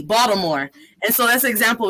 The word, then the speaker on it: Baltimore: as box some more they pronounce it with a d baltimore and so that's an